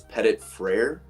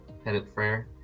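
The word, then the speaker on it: Petit-Frere: How do you say his name? It's Petit Frere. Petit Frere, probably. Yeah, that's he's another long bookend tackle.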